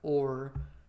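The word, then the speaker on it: Åhr: And notice the connection here, his last name is AHR, which is like or is how you pronounce it.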